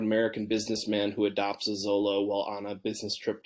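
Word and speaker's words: Xolo: out is called uh Zolo or sholo uh do you want to pronounce it correctly Spanish right um so x-o-l-o for people who aren't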